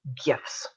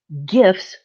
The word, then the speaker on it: gif: it as a gif gifs will play yes i'm a hard g gif person you know come at